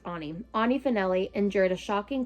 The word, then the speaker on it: Ani: As a teenager at the prestigious Bradley School, Annie Finelli Ani Finelli, I forgot it's pronounced Ani.